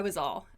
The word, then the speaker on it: was all: i was like uh but when we say them it's super fast i was all i was like so the s sound is quite prominent i was all i